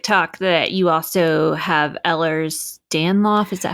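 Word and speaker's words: Ehlers-Danlos: said on Tik Tok that you also have Ellers danoff is that how you say it yes it's um Ellers danlo syndrome and I can't officially say that I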